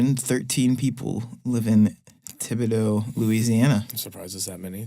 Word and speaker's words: Thibodaux: town that's not far I'm gonna go with Thibodaux Louisiana Thibodeau yep I'll spell it for you okay okay it's thi oh